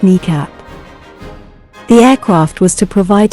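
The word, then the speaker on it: NEACP: when it was termed national emergency airborne command post pronounced kneecap the aircraft was to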